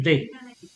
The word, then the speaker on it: vais: So remember, A, I, the pronunciation is like a E sound. So, je vais.